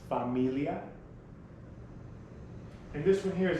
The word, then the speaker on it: familia: we have family familia familia family spanish is pronounced familia and this one here is an exact cognitive